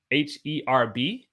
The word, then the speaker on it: herb: So, for example, the word herb, like you can have herbal tea, HERB. Well, a lot of Brits and Australians, they say herb. Americans say herb.